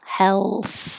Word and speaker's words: health: with health health so i'm not making a perfect l health health i'm kind of pushing my tongue further forward already for the l health health because you need the air flow you need to make the l noise and then keep your tongue loose and push forward so you can make the th health so there will be